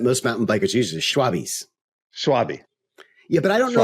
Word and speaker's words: Schwalbe: Benoit's like, no, dude, no, it's not Schwalbe. It's not. It's not ours. It's German. It's Schwalbe.